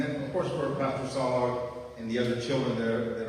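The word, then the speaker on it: Saulog: So pray for the Sologs, and it's spelled S-A-U-L-O-G, like Saul the Apostle, or Saul of Tarsus, Saul, S-A-U-L-O-G, Solog.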